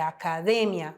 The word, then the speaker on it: academia: exemplos que eu trouxe em português nós falamos academia em espanhol é acadêmia olha só a sílaba tônica academia acadêmia em português futebol em espanhol